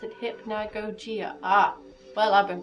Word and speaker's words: Hypnagogia: is derived from the title hypnagogia and you pronounce it hypnagogia ah well i've been pronouncing everyone this whole